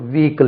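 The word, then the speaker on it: vehicle: நாங்கள் ஈக்கள் என்று சொல்லணும் விகிக்கள் இதுக்கு வெகிக்கிள் நான் ஒரு வெகிக்கிள் எடுத்தேன் அது என்ன வெகிக்கிள் விக்கல் விகிக்கள் ரெண்டு உச்சரிப்புல எது வேணாலும் சொல்லுங்க but there is நோ h in that விக்கல் வீக்கள் அதே மாதிரி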